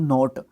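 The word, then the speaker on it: knot: आजका कट द गोर्डियन नोट ये नोट क्या होता है भैया देखो जब भी के के बाद एन आता है तो आपका के जो है साइलेंट रहता है ठीक है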